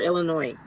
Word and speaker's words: Illinois: I don't say it with the S, but that doesn't mean that I'm saying it right.